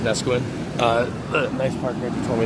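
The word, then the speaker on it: Neskowin: And it is pronounced Nesquin.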